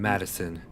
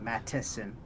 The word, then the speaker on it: Mattison: And then Madison. MAT Oh, M-A-T, okay. ASON. I thought you said Madison, not Mattison. Mattison.